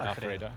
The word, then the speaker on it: Alfredo: Alfredo, yeah, like the pasta.